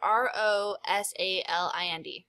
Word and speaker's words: Rosalind: It's like Rose. So it's R-O-S-A-L-I-N-D. Rosalind. I'm going to say that's how I pronounce it, but it means pretty rose.